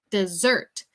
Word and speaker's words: dessert: And to say postre, we would say dessert. Eso tiene más énfasis en la sílaba 2, en la segunda sílaba.